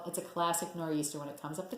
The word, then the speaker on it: nor'easter: But the storm is called a nor'easter, so NOR''EASTER.